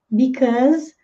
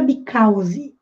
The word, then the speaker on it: because: Because, termina com o som de Z.